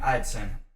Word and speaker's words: Eideson: So first off, your name Eideson. Yep. I'm pronouncing it right?